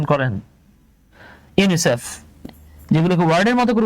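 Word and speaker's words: UNICEF: করে উচ্চারণ করা হয় আপনি কিন্তু কখনোই বলেন না ইউএন আই সিই এফ বরং আপনি এটাকে ওয়ার্ডের মত উচ্চারণ করছেন ইউনিসেফ এই যে আমরা পড়ে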